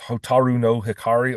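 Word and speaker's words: 蛍の光: They have a popular song uh pronounced hotaru no hikari or the light of the firefly.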